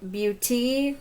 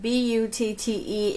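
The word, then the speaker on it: Butte: then you have a big beauty which is spelled b-u-t-t-e and i want to call it big butt but it's pink this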